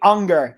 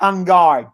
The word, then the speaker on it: Unger: By the way, it's actually Unger, not Ungar, just to clarify that.